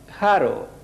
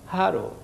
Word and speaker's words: haro: Haro. Havíem vist aquesta lletra, la H, es pronuncia com una J però lleugera, una J aspirada. Haro, haro, molt lleugera.